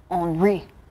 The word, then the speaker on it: Henri: It looks like Henry, but the pronunciation guide from the Hurricane Center, it's Henri.